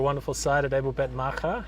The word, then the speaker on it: Maacah: Yes, this is my first time to your wonderful site at Abel Bet Maka. How would you pronounce that? Is that correct? or a bell that's maja. Yes. Maha.